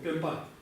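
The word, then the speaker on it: སྤེན་པ: Пенпа. Ударение на какой слог? Как правило, в двусложных словах ударение на второй слог. Пенпа.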